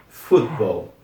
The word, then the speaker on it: football: certo F Ball Football só tomem Cuidado para não pesar esse T aqui no português nós falamos futebol só que esse T aqui é